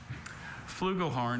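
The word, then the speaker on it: flugelhorn: Flugal horn is a bugle with valves that differs from the cornet only in having a larger bore.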